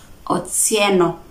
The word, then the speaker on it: Otsieno: And some names were shared, for example, like we have Otieno among the Luos and Otsieno among the Luhyas. You get the pronunciation difference? Otieno and Otsieno. That is the pronunciation different.